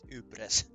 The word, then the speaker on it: Ypres: Yeah, it's Yepper. Yeah, that's the one. For me, for some reason, it's spelled with like. For me, it's spelled like this. Ypres. This is how I pronounce it. Ypres.